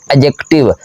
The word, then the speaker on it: adjective: है और ए साम्राज्य एडजेक्टिव यहां पर दी साइलेंट होता है आप लोगों ने इसे एडजेक्टिव नहीं पढ़ना बल्कि पढ़ना है दी साइलेंट करना है इसके बाद तीसरा पी